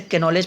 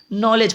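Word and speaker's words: knowledge: तो मैं इसे कैनोलेज पढ़ता था, बाद में पता चला अच्छा ये के जो है वो साइलेंट छिप जाता है, आई मीन हट जाता है, नॉलेज पढ़ा जाता है इसको।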